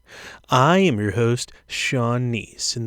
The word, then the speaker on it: Kneese: am your host sean nice and the k is silent and on this show